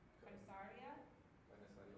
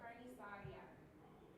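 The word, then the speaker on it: carnicería: Carniceria, yeah, it's hard to say though. Yeah. Carniceria. Okay. It says rhymes with Maria.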